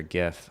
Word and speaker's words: gif: email and technically a gif is an image and i hope you pronounce it gif and not jif if you pronounce it jeff we're not friends lee what's up lee